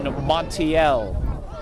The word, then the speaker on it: Montiel: a brontes a bronte's tom montiel number 15 kevin montiel is the correct pronunciation a brontes he crosses